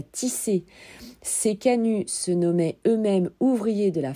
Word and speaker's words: canut: la soie sur les machines à tisser ces Canu se nommait eux-mêmes ouvriers de la fabrique au sein